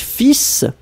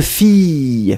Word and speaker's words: filles: I just called, quand vous dites fils, ah, deux filles, filles, FILLES, féminin, appliquant un masque facial.